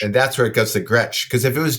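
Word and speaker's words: Gretsch: s c H and that's where it goes the Gretch because if it was G T CH then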